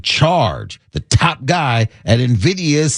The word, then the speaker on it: Nvidia: not learn the and I'm believing this is pronounced uh Nvidia Nvi Dia. Oh yeah, Nvidia.